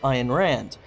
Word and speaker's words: Ayn Rand: a male version of Ayn Rand. And yes, I'm sure that's how you pronounce her name because I've looked it up.